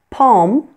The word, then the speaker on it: palm: Then there are some words in English that may have a silent L, but that you may also pronounce that L. There are two acceptable pronunciations for these words. And here they are. Calm, palm, balm, and almond. Many people do not pronounce the L in these words, but you'll notice that I do. Both ways are perfectly acceptable.